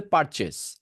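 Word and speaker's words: purchase: practice করবেন এরপরেরটা আছে পারচেস এটাকে পারচেস না বলে পারচেস জাস্ট চেস বলবেন পারচেস ওকে চেস বলা দরকার দরকার নাইস পারচেস পারচেস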